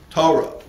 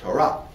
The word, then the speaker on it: Torah: Or if you follow an Ashkenazi mode of pronunciation, Ashkenazi. All right, I don't have time to deal with that. If you follow a European Jewish mode of pronunciation, Torah. Right, but the right way to say it is Torah.